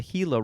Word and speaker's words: Gila: And uh this is from the Hila River in Arizona, but I would assume that that is from probably Spanish.